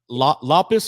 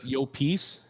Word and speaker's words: Llopis: I apologize but lus or lus whoa that was close yo peace yo yo pece yeah yo pece because the Double L in Spanish you pronounce like a why so it's yo pece ah I come in